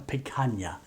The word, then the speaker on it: picanha: So the cut of meat I chose is a picanha. Well, that's how it's pronounced.